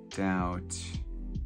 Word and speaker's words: doubt: is that loaded maybe element of doubt oh a silent b very good okay accumulate